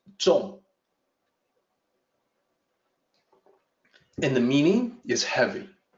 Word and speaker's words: 重: It's pronounced zhong.